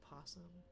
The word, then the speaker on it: possum: The O is silent, so it's still just possum.